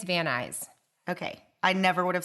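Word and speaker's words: Van Nuys: you for jumping excited Nuys apparently is eyes and I can't wait till Rosanne from California uh dreaming pod hears us pronounce this please tell us we're doing it right but I think it's van eyes okay I never would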